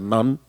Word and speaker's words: Nantes: la isla de Nantes, se escribe, pero se pronuncia non, eh, y tienen estas máquinas en exhibición y también hacen pasacalles.